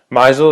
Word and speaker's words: Meisel: Misel is the way to pronounce it properly.